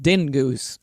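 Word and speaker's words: Dyngus: But he said they always pronounced it dingoose. Okay. Oh, my gosh. I mean, what do I know? I've been pronouncing it wrong for 37 years. But yours is funnier. Dingus cracks me up.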